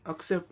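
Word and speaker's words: accept: अब इसका सही उच्चारण फोनेमिक ट्रांसक्रिप्शन के द्वारा देखें। अ का ए का अ साउंड होगा, सी का पहले सी का क साउंड, अक, ये एक सिलेबल बन गया।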